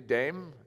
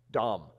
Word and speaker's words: Dames: What is it? Dom. Chemin des Dames. Uh see, I'm speaking English when I say Dame.